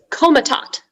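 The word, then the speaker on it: Komitat: hi your word is comatot comatot comatot yes can i have all the information please uh german it's from german it's a noun comatot is the only pronunciation it's an administrative division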